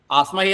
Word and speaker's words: ആസ്മഹേ: അപഹൃത്യ അസ്മഹേ എന്നും ആവാം പക്ഷെ അസ്മഹേ എന്നല്ല ആസ്മഹേ എന്നാണ്എന്ന് മനസ്സിലാക്കാൻ വേണ്ടിയിട്ടാണ് ഇവിടെ രണ്ട് ഇതൊക്കെ കാണുന്നത്